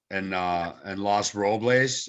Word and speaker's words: Los Robles: And Los Robles, as I've learned, is the true pronunciation. And that means the oaks in Spanish, or the oak, or something like that.